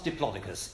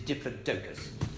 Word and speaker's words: Diplodocus: the weaker animals firstly it is not Diplodocus it is different doukas in scientific terminology we always stress the penultimate syllable of a generic name Spiro Regina Chlamydomonas Diplodocus Diplodocus is simply a way of making it sound sophisticated which it isn't and why is this